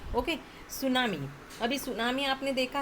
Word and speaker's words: tsunami: बहुत सारे स्पेलिंग ऐसे रहते हैं, एस से प्रोनाउंसिएशन है बट टी से यहाँ पर स्टार्ट हुआ है, तो ये भी ध्यान में रखते जाना। Okay, सुनामी।